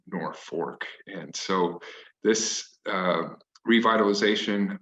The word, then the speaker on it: Norfolk: back spelled that way but the stubborn germans and their ancestors to this day pronounce uh the name nor fork and so this uh